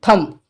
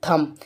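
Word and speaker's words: thumb: ले लेते हैं जैसे थंब ठीक है थम्मन होता है अंगूठा यहां पर भी एन के बाद हम बी ए गया तो यहां पर बी साइलेंट है तो हम इसके लिए क्या पढ़ेंगे थंब चलिए इतना कंफर्म हो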